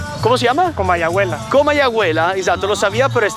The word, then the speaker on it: Comayagüela: En realidad no estamos en Tegucchigalpa porque aquí Comayabahuela, ¿cómo se llama? Comayabahuela. Comayabuela. Exacto. Lo sabía, pero es tan complicado de pronunciar que prefiero que lo diga él.